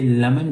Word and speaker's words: lemon: So that is a schwa. So we say lemon. We don't say lemon. Can I have lemon, please?